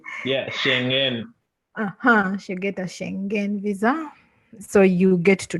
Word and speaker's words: Schengen: does the shenanigans i don't know how to pronounce it yeah uh-huh should get a schengen visa so you get to travel wherever you